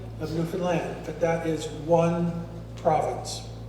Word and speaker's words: Newfoundland: it wrong it's not Newfoundland it's a land folks it rhymes with understand I'd like you to say that with me understand Newfoundland understand Newfoundland it's a land no